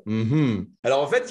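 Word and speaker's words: mmhmm: alors M MH mm c'est censé se prononcer hm hm alors en fait il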